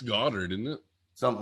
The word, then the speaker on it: Goedert: I want to say that Philly is happy with Dallas Goedert or however you pronounce his name. Dallas Goedert. Yeah. Well, it's Goddard, isn't it?